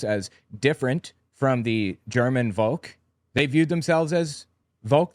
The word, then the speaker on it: Volk: The word Volk, V-O-L-K, pronounced folk, I believe, similar to our word folk, just people, except it had more mystical connotations to it.